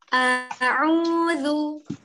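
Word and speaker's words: عين: Kalau suaranya beda, waktu dibuka nih sama ditutup, ada kemungkinan pelafalan huruf ainnya masih kurang pas. A'udzu, sama kan?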